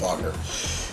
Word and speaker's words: Wagner: Now, Nightcrawler, whose real name is Kurt Vogner, it's German, is spelled Wagner, but it's pronounced Vogner.